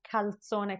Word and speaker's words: calzone: And instead, you don't pronounce calzone correctly and you say, guarda quel cazzone.